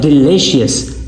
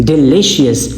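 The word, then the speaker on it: delicious: Next हमारे पास है डिलीशियस डिलीशियस इल आई ये जो बीच में सिलेबल है सेकंड सिलेबल है ये हमारे पास क्या है? स्ट्रेस सिलेबल है।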